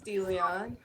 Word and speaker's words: DeLeon: is that how you say it, well, hi, DeLeon? my name's DeLeon.